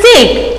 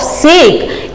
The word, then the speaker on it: sake: Now, what is this sake? You can see here in the book. A popular Japanese drink that is pronounced like fa in father and k rhymes with way.